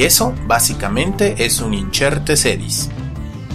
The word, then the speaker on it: incertae sedis: con nuestro listado inserte sedis también pronunciado como injértese dish pero nunca como inserte se dis ni como inserta ese dis proviene del latín como